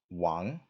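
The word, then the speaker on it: 王: that's interesting is that in Chinese the king by itself is pronounced Wong and this character as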